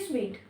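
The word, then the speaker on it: suite: इसको कई बच्चे सूट बोलते हैं जो कि गलत है। इसकी जो करेक्ट प्रोनाउंसिएशन है वो होती है स्वीट, और इसका भी स्वीट है।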